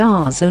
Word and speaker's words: DAZN: question mark basting at UK da Zandt and pronounced our zone is akin to Netflix in that it's a